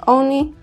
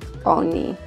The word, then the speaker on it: oni: They is oni, and it sounds like oni.